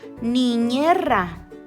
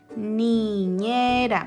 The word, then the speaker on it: niñera: Niñera. ¿Por qué? Porque ahí voy a distinguir que es un sonido débil porque está en medio de dos vocales, está en medio de la E y la A.